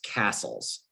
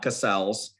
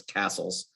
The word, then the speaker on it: Castles: the pronunciation correct plus his last name is castles not cassells or anything else it's castles just and i'm not